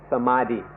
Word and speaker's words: Samadhi: my teeth specifically or it's more often pronounced by Europeans Samadhi or sama teeth the word Spumante is